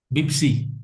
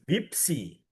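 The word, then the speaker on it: بيبسي: Fanta Fanta ketika Pepsi, Pepsi. Ah gitu. Huruf P digantikan B.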